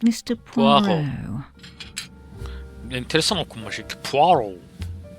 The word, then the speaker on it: Poirot: Poirot. Poirot diye yazılıyor ama Poirot diye okunuyor.